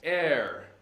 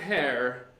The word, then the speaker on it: heir: the information the facts err not hair pronounced like air what we breathe and air is somebody who inherits